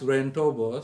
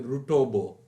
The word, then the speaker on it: Ruentobo: It was funny actually because my dadima, my dad's mother, could not pronounce Ruentobo. She used to say Rutobo, which was a bit funny.